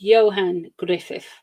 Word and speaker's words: Johan Griffith: It's pronounced Johan Griffith. Thank you, Mickey. See, Mickey has told me how to say it properly.